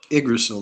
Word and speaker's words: Yggdrasil: I can't even pronounce it. Yggdrasil. Yggdrasil. Yggdrasil, that's it, yeah.